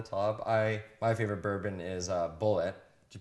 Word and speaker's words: Bulleit: My favorite bourbon is Bullet. Do you pronounce it Bullet? I pronounce it bullet, just like in a gun, bullet.